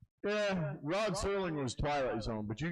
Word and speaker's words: Serling: Would you guys right Sterling? There's no T in Rod Serling. Okay. Okay. Serling. No T.